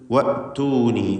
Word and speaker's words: وأتوني: വഅ്തൂനി. വഅ്തൂനി ഹംസ ഷിദ്ദത്തിൻ്റെ അക്ഷരമാണ്. അത് വഅ്തൂനി എന്ന് പറയരുത്.